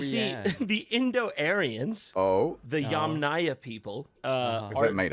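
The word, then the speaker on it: Yamnaya: Oh, the Yam Naya people. Uh, is it made up? No. Look it up. Yum. I Okay, so the the Yam Naya people, not Yamya, is that them?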